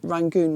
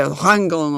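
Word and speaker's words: Rangoon: different pronunciation and um although the local people called rank something like Yang Yangon or something like that but the tribes people in the Muslim area were not able to say the pronounced the letter why and so they would say rangon or something like that so basically the British tried to copy that and that's how it became rangon and it you you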